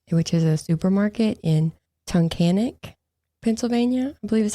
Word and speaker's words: Tunkhannock: On June 7th, 2017, Randy went to work at the Wise Market, which is a supermarket in Tunkhannock, Pennsylvania, I believe is how you say it.